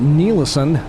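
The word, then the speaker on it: Ny-Ålesund: town at our destination it's called nison although it doesn't look like you'd pronounce it that way and these guys do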